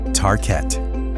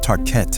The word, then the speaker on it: Tarkett: In the 1950s, they launched a new floor covering and vinyl called Tarkett. The name was chosen to rhyme with parkett, the Swedish word for parquet.